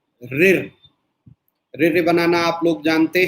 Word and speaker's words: ऋ: इस ध्वनि का उच्चारण सामान्यतः र धन ई बराबर री की तरह व्यंजनबद्ध होता है।